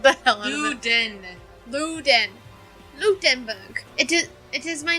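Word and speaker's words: Ludenberg: huh Berg but sure that y'all have Berg I apologize for whoever this is their main language and I just butchered by lieutenant luden Luke den Berg it is it is my name but you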